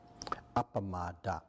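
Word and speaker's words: appamāda: hatefulness it's a word hatefulness in par it's pronounced apam that what is very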